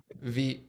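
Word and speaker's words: Vite: on uh v there's one called v like feet or something like that i forget what the name of the live stream is but we have a uh v rhymes with feet uh we have videos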